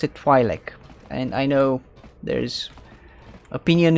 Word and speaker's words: Twi'lek: I've always said Twi'lek. Because it's an open syllable and there's an apostrophe over there. I treat it as a standard open syllable, that's why.